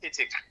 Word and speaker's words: JITIC: I'm currently in El Salvador with some of our players here at the JITIC, pronounced HITIC, Under 14 Championships in El Salvador.